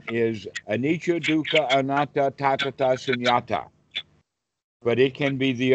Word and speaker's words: Sunyata: Is it pronounced Sanatta? Sunyata.